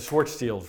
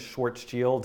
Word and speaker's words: Schwarzschild: I'm sorry it's a Schwartz teals rate radius I was like trying to think how do you pronounce that it's like spelled Schwarzschild but I think is Schwartz yield it's very hard to